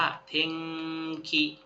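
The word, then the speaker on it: 天気: จำ ได้ อยู่ กตะ อัน นี้ อ่าน ว่า เทงขิ เทงขิ อ่า โกเงกะ เอ็ง อ่ะ เรา จำ คำ ว่า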